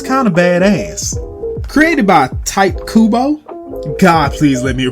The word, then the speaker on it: Tite Kubo: Created by Tite Kubo, God please let me pronounce that right, aka the guy who wrote Bleach.